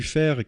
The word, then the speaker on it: Faire: Alors, la Cité du Fer, qui s'écrit F-A-I-R-E, qui est un jeu de mots avec le fer, F-E-R, puisque la Cité du